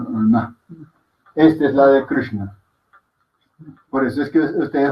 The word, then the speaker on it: Krishna: Si dijéramos, como lo dice la gente en español, Krishna sería con esta. Pero Krishna no se escribe con esta, sino con esta.